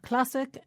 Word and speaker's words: classic: And it's the same with classic and classical. In both words, the stress is on the same syllable, this time cla.